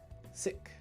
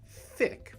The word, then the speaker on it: sick: that word the word is sick sick not thick but sick right also not chic right we don't want the sh sound either which is very easy to do in japanese because when you're pronouncing english words with a japanese inflection it's common to use the sh sound but you want si sik okay let's go to